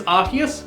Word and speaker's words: Arceus: Pokémon Legends Arceus, or Arceus depending on your preferred pronunciation, is the latest in